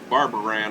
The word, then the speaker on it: Barbaran: Barbaran, I do believe, is how he pronounces it.